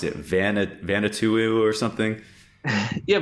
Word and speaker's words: Vanuatu: You mentioned one earlier, and I forget how to pronounce it. Vanuatu or something? Yeah, Vanuatu. Vanuatu.